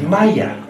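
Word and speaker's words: مية: It is not pronounced the same way in any other Arabic country. If you went to Saudi Arabia, they would say Ma or Meh. Only in Egypt is it pronounced Maya.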